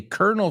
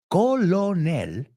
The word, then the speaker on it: colonel: States when you say Colonel Sanders you're talking about KFC baby Kentucky Fried so that's interesting look at that word Colonel and we say colonel colonel another one lieutenant Lieutenant